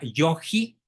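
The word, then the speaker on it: yogui: tarea del Yogi entonces la manera correcta es decir yoi con sin u es decir se pronuncia yoji sin la u intermedia entre la g y la i la tarea del yoi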